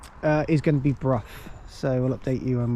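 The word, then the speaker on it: Brough: You don't You don't say bruh. It's Bruff. So, you actually pronounce the G and H.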